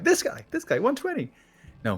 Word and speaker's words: 120: this game when did you decide to call 1 2 0 1 2 0 instead of 120 like in the very past